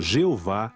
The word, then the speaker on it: Jeová: o uso frequente do nome divino o tetragrama pronunciado Jeová em português nas escrituras hebraicas este nome